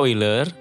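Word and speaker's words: Euler: Akan tetapi Leonhard Oiler kata Oiler dibaca Oiler sesuai dengan pengucapan bahasa Jerman yang menjadi tempat asalnya dalam bukunya yang berjudul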